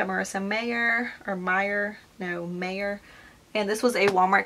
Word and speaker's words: Meyer: confused with Stephanie Meer which their names are pronounced are written the same so I don't know why they're pronounced so different but Marissa mayor Stephanie Meyer yeah this is the